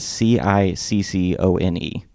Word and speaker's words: Ciccone: This is the correct way. All the other ways are not good. It is Ciccone.